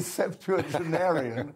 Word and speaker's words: septuagenarian: a mere child compared to me as a septuagenarian you know you can't you can't run the